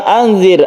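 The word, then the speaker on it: أنذر: Nah, ro ini, ro yang sebelumnya ada kasrah maka dibaca tipis atau tarqiq.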